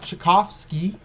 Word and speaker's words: Tchaikovsky: All right, let's talk about Chakovski. That's how you say it.